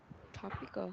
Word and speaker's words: tropical: So chúng ta có cái từ này phát âm nó sẽ phải là trop, nó phải âm o. It is tropical. Tropical. Okay. Tropical, right? Nó sẽ tương tự với cái chữ mọi người thấy cái chữ product, mình sẽ không phát âm là âm pro hay âm pro, mình sẽ phát âm là product. Mình sẽ có từ tropical, còn sự tương tự như vậy.